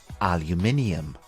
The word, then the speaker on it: aluminium: have two different pronunciations the American English pronunciation is aluminum aluminum and in British English it is called aluminium repeat after me aluminium it